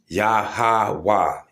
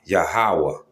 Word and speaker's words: Yahawah: But if you want the actual pronunciation, it's a Yahawah Yahawah.